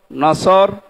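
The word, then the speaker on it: نصر: নিয়ে আমরা তাফসীরুল কোরআন মাহফিলে প্রবেশ করছি সূরা নসর কোন সূরা বলেন বলেন নসর না নাসর নুন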